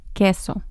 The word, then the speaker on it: queso: There's an exception here when we combine Q and U. So it sounds like the K and the next vowel is E queso.